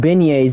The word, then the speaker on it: beignets: Like, what's the point of putting G in beignets if you can't pronounce the G?